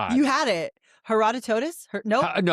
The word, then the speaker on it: Herodotus: Herodotus. Nope. No. Herodot. Uh Herodotus.